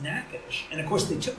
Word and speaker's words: Natchitoches: know anything about this Natchitoches noisette?" And they said, "Well, the first thing is you're pronouncing it incorrectly." And those Louisiana gardeners are so polite, thankfully. They said, "That is pronounced Natchitoches."